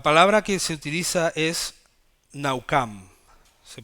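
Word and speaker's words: נחם: se arrepintió la palabra que se utiliza es naucam se pronuncia así aunque se escriban a Sam se dice naucam en la en la estrógenes diccionario strong dice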